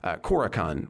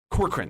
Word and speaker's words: Corcoran: make sure I'm getting his name right is kakan or uh say his name corkran corkran there we go uh who and he himself